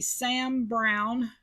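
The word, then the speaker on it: Sam Browne: it is called a Sam Brown Sam Brown as in the name Sam Brown closure um there's an e on the end of brown when you spell that out but I love these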